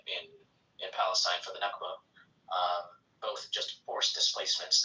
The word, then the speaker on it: Nakba: happened in uh in in Palestine for the Nakba.